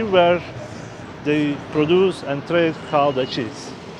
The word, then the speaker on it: Gouda: It's pronounced like Gouda, G-O, Gouda.